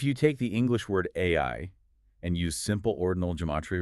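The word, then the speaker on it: 愛: is nine, the word AI equals 19. The total matonic cycle. If you reverse it to IIA, it equals 91. And if you look at the Japanese kanji for love, pronounced AI, it is traditionally written with exactly 13 strokes.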